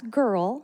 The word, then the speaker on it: Gerle: And that's Gerle, spelled like Merle, but with a G.